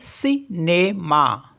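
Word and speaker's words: cinéma: next है हमारे पास सी आई एन ई एम ए इस ई में भी एक्यूट एक्सेंट है तो इसको पढ़ेंगे हम सीनेमा सिनेमा और लास्ट में हमारे पास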